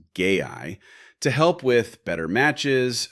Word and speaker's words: GAI: They're calling it GAI, pronounced gay-eye, to help with better matches, smarter conversations, and even a new health center for sexual wellness info.